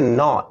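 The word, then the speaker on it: gnaw: English में शब्द है नो जी एन A blue पढ़ेंगे उसको साइलेंट होता है ऐसे एक शब्द है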